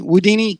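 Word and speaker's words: Whodini: you say that Houdini woodini woud Houdini with a w woodini uh number 15 um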